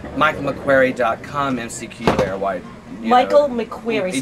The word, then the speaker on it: McQuary: mcq where white michael mcqueary spell that spell that last name the last name is m.c capital q-u-a-r-y but it could be michael mcqueary really fast which is michael m-c-q-u-a-r-y